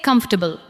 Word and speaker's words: comfortable: Now say comfortable. Comfortable. Do not give every syllable the same weight. Let the first part carry the stress.